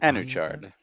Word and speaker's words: Anuchard: So maybe I'll just let you say the title of this game on Anuchard.